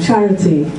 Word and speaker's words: charity: second Italian one okay so the stress on the top and in English it's in the beginning charity so there's a danger